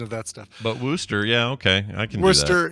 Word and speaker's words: Worcester: You've mispronounced it wrong a few times. It's Worcester. Very simply, Worcester.